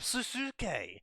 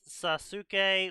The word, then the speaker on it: Sasuke: I legitimately thought in the past Sasuke was pronounced Sasuke.